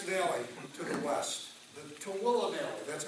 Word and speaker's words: Tooele: The change of ministry took us to the next valley to the west, the Tooele Valley. That's how you say it, Tooele.